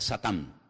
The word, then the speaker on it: Satán: En hebreo no se dice Satanás, se dice Satán y significa adversario.